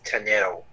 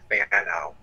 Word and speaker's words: Tanu: So yeah, it's Tanu, not Fano.